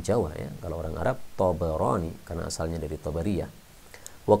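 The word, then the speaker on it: الطبراني: Rawahu Tabarani, diriwayatkan oleh Tabarani. Ya, ini jangan lupa baknya di fathah karena banyak orang yang salah paham, salah baca ya, dia membaca Tabrani. Kalau Tabrani orang Jawa ya, kalau orang Arab Tabarani karena asalnya dari Tabariyah.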